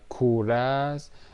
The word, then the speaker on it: Kura: I'll call them kuras, so that you don't mistake it with English cure. Kura is the Persian pronunciation.